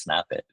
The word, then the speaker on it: SNPIT: or anything but um it's actually pronounced snap it snap oh snap oh